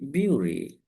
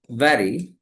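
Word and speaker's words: bury: spelling, it should be beauty. b u r e beauty beauty. But let us go to the IPA of the word. b e r e. So, it's berry. It's berry. Not beauty or not body.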